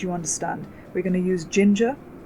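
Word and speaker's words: Jinja: understand we're gonna use ginger which is a weird word which rhymes with ginger ninja to display data on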